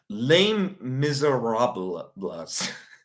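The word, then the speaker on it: Les Misérables: Lame miserablas. That's actually how it's pronounced.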